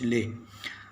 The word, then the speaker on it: Leh: तो आप देखिए कि अक्साई से आगे एक बड़ा मशहूर लद्दाख का सिटी है, लेह, शायद लेह कहते हैं उसको, स्पेलिंग है उसके LEH लेह।